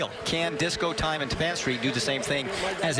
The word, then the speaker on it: Tapan Street: It's not Tappan Street, it is Tapan Street.